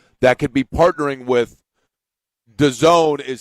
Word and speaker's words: DAZN: within the NBA that could be partnering with DAZN, is how it's pronounced, DAZN, which is an app, a viewing app of different things, different more niche sports.